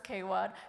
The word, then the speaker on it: KWAD: It says also known as Kwad, pronounced as Kwad, which stands for Knobill Urban Arts District.